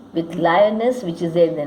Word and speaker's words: Lyonnesse: Lyonnesse and guess rhyme with each other.